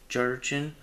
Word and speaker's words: Gerrchin: I think his YouTube name is pronounced Jurchen, I think. Jurchen.